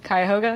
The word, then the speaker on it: Cuyahoga: in in the in I had can never pronounce these is it quite Cuyahoga Cuyahoga is all right kite Cuyahoga I'm not from